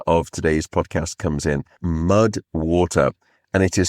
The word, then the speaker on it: MUD WTR: That is where the supporter of today's podcast comes in, MUD WTR. And it is spelled m u d w t r.